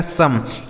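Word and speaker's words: some: एम ई से म ये लिखा गया आपका सम। एस ओ एम ई सम। इसे सोम नहीं पढ़ना है। सम पढ़ना है।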